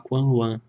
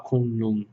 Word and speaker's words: Kunlun: Às vezes a gente fala Quanluan, que é a pronúncia mais próxima, somente da província de Taiwan, Quanluan, mas escreve Kunlun. E em alguns lugares da China se fala Kunlun, então tudo bem.